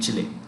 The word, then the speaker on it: Chile: Okay, so right, 2015 venue for 2015 venue, venue, venue for 2015 dash Chile, Chile, Chile, Chile, Chile, that's how you pronounce it, Chile, Chile.